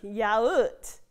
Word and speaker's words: yaourt: Look, yaoot. That's how you say yogurt. Which is also sometimes pronounced yogurt.